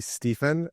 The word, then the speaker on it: Stephen: So it's actually Stephen, but most people don't pronounce it that way. They pronounce it with a V.